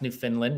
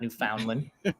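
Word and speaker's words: Newfoundland: it myself just like I've learned to pronounce New Finland not New Foundland new New Finland and Calgary yeah my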